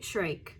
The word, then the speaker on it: Shyrock: Yeah, her name's pronounced Sari Shrike.